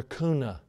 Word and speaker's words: Kuna: People, can you pronounce things right, please? Kuna, Idaho.